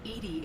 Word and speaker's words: EDI: a specific inquiry why are you named edie edie is the phonetic pronunciation of edi that is an acronym for